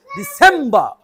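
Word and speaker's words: December: নভেম্বর নভেম্বর ডিসেম্বর ডিসেম্বর দি আসতে হবে বা আসতে হবে সেম এটা জোরে হবে ডিসেম্বর ডিসেম্বর ডিসেম্বর ডিসেম্বর আবার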